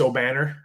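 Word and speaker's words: Obanor: It's Obnafor. Is that correct? From O'Banner, Kevin O'Banner from Oral That's Roberts. How you pronounce it? It's O'Banner?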